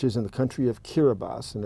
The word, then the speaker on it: Kiribati: an s so they they replaced every s sound with the ti but anyway if if